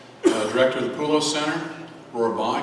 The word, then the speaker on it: Rohrbach: Now on to Tina Rohrbach, Director of the Pullo Center. Rohrbach, excuse me, I pronounced that wrong.